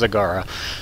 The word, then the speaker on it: Zagara: see we have zagara whose name I continually mispronounced in the last video uh it's zagara so anyway uh we